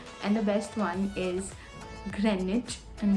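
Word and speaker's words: Greenwich: but River THS and the best one is Grenich and not green witch looking at it you'll obviously pronounce it as green witch but it's Grenich and the last one is Bingham Palace and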